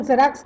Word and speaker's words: Xerox: Note the sound of the first letter X in Xerox copy. It is pronounced like Z in zebra, zookeeper, etc.